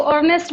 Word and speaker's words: Ernst: कई लोग इसको अर्नेस्ट बोलते हैं, कई लोग इसको अर्नस्ट बोलते हैं, जो बोलना है आपको बोलिए, स्पेलिंग तो कोई बदल नहीं सकता।